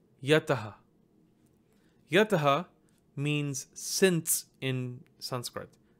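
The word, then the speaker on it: यतः: Factoring any kind of visargas or anusvaras present, you see that there is a visarga to the right of the ta, so it's actually pronounced as taha, taha. So this word reads as yataha, yataha.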